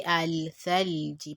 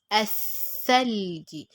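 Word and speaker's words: الثلج: So here we also have Thalji. I made a mistake. I read Athalaj. Athalji. As you can see, I didn't say al-thalji, but as-thalji. Pronounce the alif and jump straight to the letter, to the sound letter.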